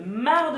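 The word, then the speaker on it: marc: l'huile de coco le mar de café pourquoi on prononce pas le C et du miel démo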